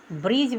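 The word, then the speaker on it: bridge: बी आर आई डी जी ई यहां जी से पहले डी आ गया तो डी नहीं उच्चारण करेंगे ब्रिज बोलेंगे ब्रिज ब्रिज मींस पूल उसी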